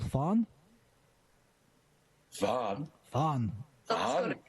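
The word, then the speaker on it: faen: You just say, "fan," which is not a very nice word.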